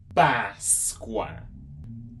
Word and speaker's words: Páscoa: And I went over as well about when that accent is on top of the vowels, that means that it's a more open sound. It's a more stronger sound.